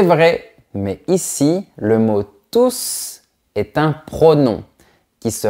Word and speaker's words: tous: Attends, mais pourquoi est-ce que je prononce la lettre S? Ils vont tous manger des croissants.